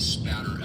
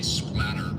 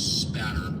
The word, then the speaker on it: spatter: discipline known as blood spatter evidence. A lot of people mispronounce it and say splatter with an L. It's spatter.